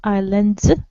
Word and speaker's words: islands: How many islands Yes, are it's pronounced islands.